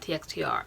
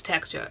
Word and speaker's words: TXTR: then finally like mom it's not txt are its texture and I'm like okay